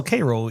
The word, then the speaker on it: Cairo: Yeah, it's also Cairo, even though it's spelled Cairo. Yeah, spelled yeah, but they pronounce it Cairo.